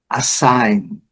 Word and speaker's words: assign: Assign. Assign. Olha, a letra G. O padrão vai seguindo o mesmo, né?